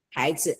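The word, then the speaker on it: 孩子: 孩子 When you do a neutral tone, you put the emphasis on the first syllable.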